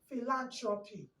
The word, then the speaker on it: philanthropy: By the time you say phi, lan, tro, pi, phi, lan, tro, pi. You now join it together, philanthropy.